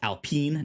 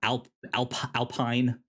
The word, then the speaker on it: Alpine: And it is pronounced Alpine, not Alpine.